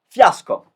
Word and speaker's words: fiasco: Fiasco. So I'll pronounce it with my accent. You can say it in English, but fiasco.